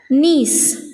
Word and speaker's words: gneiss: It converts into a new rock that we call it as gneiss. Here G is silent, okay.